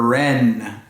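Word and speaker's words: wren: all over the place W is for Ren WR e n that's a type of bird the Ren wrapped the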